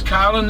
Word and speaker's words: Carlin: My name's Carlin. It's like a car with a lin on the end.